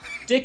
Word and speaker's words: DIC: Luigi to you Mario dick entertainment pronounced like deck made a few animated